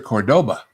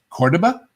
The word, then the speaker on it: Cordoba: You don't know how to spell you don't know how to pronounce Cordoba as opposed to Cordoba." It turned out that the I think that was Chrysler. Yeah. that their market research people found that 99% of Americans would have pronounced it Cordoba and it was more memorable to them that way. So they intentionally ordered him to mispronounce it in the commercials because that's that's what